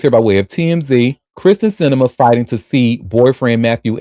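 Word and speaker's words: Kyrsten Sinema: But Kristen Cinema, uh is that did I say her name right? Yep. Kristen Cinema.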